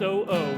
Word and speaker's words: OO: Model view, it's pronounced O-O, not ooh-ooh.